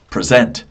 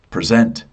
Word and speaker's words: present: If it's on the end, it's the verb.